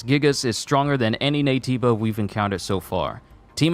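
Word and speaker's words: Naytiba: now for reference gigas is stronger than any nativa we've encountered so far team Athena get ready and head to the operation site oh jooy gigas a brand new nativa hold on scan again okay so there's something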